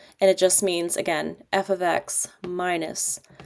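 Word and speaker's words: f(x): And just friendly reminder, it's pronounced f ofx, not f* x or fx. It's f ofx.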